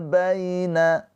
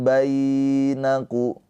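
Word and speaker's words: بين: Faallafa baina. Faallafa baina. Baina ya sukun sebelumnya harakatnya fathah. Ini adalah harfulin. Cara bacanya dilunakkan atau dilembutkan. Baina tapi jangan dibaca panjang. Jangan bainaku. Nah salah ya. Dilembutkan aja.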